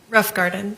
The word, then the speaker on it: Rothengarten: All right, and was Miss Melissa Rothengarten, is that how it's pronounced? Pronounce it for me. Rough Garden. Rothengarten, okay, thank you.